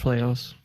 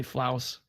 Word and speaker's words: Flouse: us with the link it's pronounced fillet house but no there we go we were wondering about that actually oh yeah don't worry some of the GOG people still call me flouse and I've been streaming